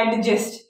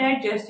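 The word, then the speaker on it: adjust: इसको ऐसे बोला जाता है एडजस्ट, this is नॉट एडजस्ट एट ऑल, इट्स एडजस्ट। Why? Because जब डी और जे टुगेदर आ जाता है तो हम डी को प्रोनाउंस नहीं करते, ये क्या है, एडजस्ट, राइट।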